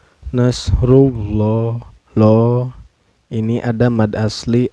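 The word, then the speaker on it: نَصْرُ اللَّهِ: harkatnya izaja anasrullahi rullah di lafadz Allah lamjalalah nya ini dihukumi tafkhim atau tebal ya Hai karena sebelum lam jalalah Hai ini berbaris dhomah ya calabai cara bacanya ditebalkan Nasrulloh lo ini ada mata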